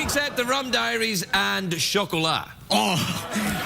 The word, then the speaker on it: chocolat: Anything except the Rum Diaries and chocolat. Oh, how do you pronounce that? What? How do you say that word? Chocolat. It's a French word for chocolate.